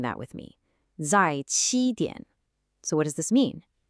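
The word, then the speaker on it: 在七点: Listen carefully, zài qī diǎn. Why don't you try saying that with me? Zài qī diǎn.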